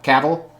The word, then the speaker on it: Cavill: Henry Cavill, I think it's supposed to rhyme with travel, Cavill.